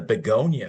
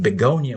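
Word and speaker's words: begonia: So, we probably need to pronounce it more like Beyona.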